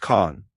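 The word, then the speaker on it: Kan: Its first form is k pronounced khan, the eternal seed in Mayan.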